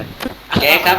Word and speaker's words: Gag: รู้ เลย ครับ เอ้า กู อ่าน ว่า กาก นะ แก๊ก ครับ แก แก ครับ อ่าน ให้ ดี ครับ ไม่ ใช่ กาก ครับ แก๊ก ครับ มัน อา ว่า แก๊ก ครับ เหรอ ครับ เอ้ย ซอมบี้